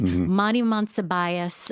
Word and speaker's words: Monsibias: let us know that we mispronounced the name of Monty Monsibias. Okay. We talked about Monty last week, has served as a Dallas police officer for 57 years, decades, yes. more than 5 decades. Started in the 70s, has held many different positions within the Dallas Police Department, and announced his retirement and will be retiring in February. So we want to certainly honor him by pronouncing his name correctly.